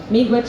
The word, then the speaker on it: Miigwech: Miigwech is how you say thank you in my language.